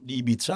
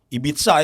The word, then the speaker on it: Ibiza: Ini Ferran Torres lagi liburan di Ibiza ya, kalau nggak salah. Ibiza ya bacanya, bukan Ibiza ya. Ibiza tuh dialek Bekasi. Kalau Ibiza dialek Spanyol sebelah kanan gitulah.